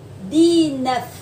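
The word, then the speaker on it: dix-neuf: Số 18, số 19, D-nuff.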